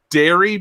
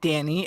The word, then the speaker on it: Danny: I just want to know, is this now the second time that David's mispronounced Danny Baranowski as Derry Baranowski? Did I hear that right? No, he's clearly educated on the remake. I said Danny.